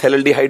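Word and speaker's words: phthalaldehyde: Common name थैलेल्डिहाइड, PH silent होता है, थैलेल्डिहाइड इसको बोल देंगे।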